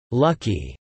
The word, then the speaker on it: Lak-Hui: Gold Star was one of the LG groups with a brethren company, Lockway, pronounced Lucky Chemical Industrial Corp, which is now LG Chem and LG Households.